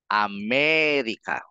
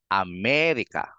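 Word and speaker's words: América: tayong ma-pr ng tama kung nasan yung tilde doon mo medyo babagalan ang ang bigkas Ame tapos yung walang tilde Bilisan mo na lang am hindi mo na sasabihing Amerika hindi Bilisan mo na lang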